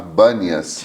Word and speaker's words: Banias: Mas como aquela região é milenarmente habitada por árabes também, o árabe não consegue pronunciar a letra P. Então, ali passa a se chamar Bânias, ao invés de Pânias, né?